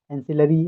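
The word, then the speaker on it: ancillary: जैसे एनसीईआरटी होता है, थोड़ा बहुत एनसीईआरटी से मैच कर रहा है इसका प्रोनाउंसिएशन, एंसिलरी, एनसीईआरटी।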